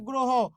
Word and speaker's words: গ্রহ: এই কারণে যে এখানে হ শব্দের শেষে হ থাকলে সেখানকার অ এর উচ্চারণটা কি করতে হবে ও করতে হবে হ থাকলে সেখানকার অ এর উচ্চারণ কি করতে হবে ও করতে হবে ওই জন্য গ্রো হ গ্রহ তাহলে একটু আপনারাই বলুন